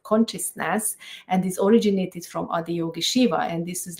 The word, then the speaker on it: Adiyogi Shiva: I'm sure I'm not going to say it exactly right, but is it Adiyogi Shiva? Yes, exactly. You said it right. So it's Adiyogi Shiva Techniques.